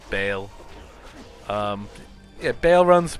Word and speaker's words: Baal: this bale rather uh i always used to say baal i i guess you know it's how it's spelt i guess but it is bail um yeah bail runs